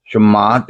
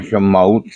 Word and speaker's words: Shemot: The Torah reading is the book of Exodus, otherwise called Shemot in the Hebrew, Shemot or Shemot, whichever way you want to pronounce it.